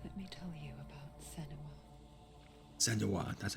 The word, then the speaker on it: Senua: alerting the others let me tell you about Sena SWA that's how you say it her story has